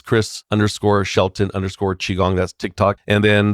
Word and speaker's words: qigong: you go to Tik Tok it's Chris Shelton chigong that's Tik Tok and then the the other social media handles for example like YouTube and Instagram and Facebook is Chris Shelton chiong and chiong once again is spelled Qi g n g